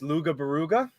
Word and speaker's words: Loughborough: And then also the city is pronounced Luga Baruga.